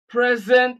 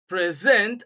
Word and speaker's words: present: also as a verb, stress the first syllable when it is an adjective and stress the second syllable when it is a verb. For example, present as an adjective, present as a verb.